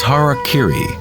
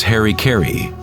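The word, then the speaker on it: hara-kiri: one form of ritual suicide or seppuku was har Kiri was often mispronounced as Harry kry it means to impale one's heart thereby cutting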